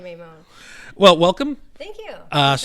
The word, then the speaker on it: Maimone: Hello, we have Giovanna, and how do you pronounce it? Maimone. Maimone.